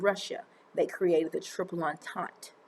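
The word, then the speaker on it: entente: they created the triple on taunt that's how you pronounce that on taunt not antente on taunt they formed that in 1907.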